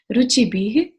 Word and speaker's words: रुचिभिः: सबसे पहले उच्चारण, पहली लाइन, यई शांत राग रुचिभिः, विसर्ग है तो ह का साउंड आना चाहिए, रुचिभिः परमाणुभिस्त्वम्।